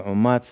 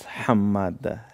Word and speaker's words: Hamad: we write Halwa and some people pronounce it Hemad and some pronounce is Omad and my surname is Hamad So, i think it